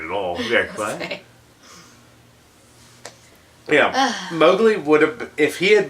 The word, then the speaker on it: Mowgli: I was like, Mowgli. Yeah. And it's pronounced Mowgli.